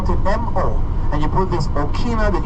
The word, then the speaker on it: moa: well too so again more is chicken MOA is chicken it's not hey hey it's Moa hey hey I hate